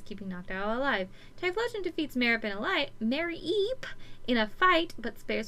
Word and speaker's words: Mareep: Night 2, Mareep. Why can I not say her name right? Mareep. It's Mareep, not Mareep. Mareep.